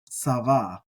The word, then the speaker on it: צוה: VAV he s VAV he um and it's pronounced SAA SAA and this means to command to command